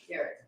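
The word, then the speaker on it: Gerrit: Garrett. Garrett, okay. I thought I heard someone trying to pronounce it in Dutch.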